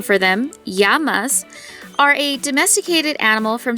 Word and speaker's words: llama: into indigenous dialects since the double l is pronounced with a y sound instead of a le sound so it's yama not lama and all that information